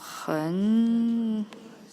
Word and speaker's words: 很: So 很, H-E-N, third tone.